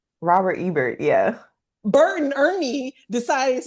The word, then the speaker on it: Ebert: Egbert. Robert Ebert, yeah.